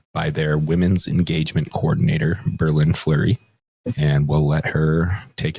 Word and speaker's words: BerLynn Fleury: My name is pronounced Berlin Flurry like like the city and like the hockey player.